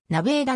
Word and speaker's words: ネバダ: 近いものになるただし地元での発音はなヴェーダであるアルコールの販売が